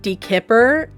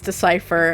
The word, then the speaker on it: decipher: in seventh grade and I said depper in front of everybody and they all kind of like laughed and they're like it's decipher and I just looked